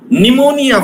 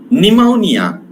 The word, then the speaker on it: pneumonia: Pneumonia, for example. Pneumonia. This P sound is a silent.